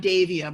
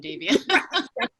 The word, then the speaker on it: Davia: I was supposed to be a boy, like Dave. So just think of Dave, you'll be fine.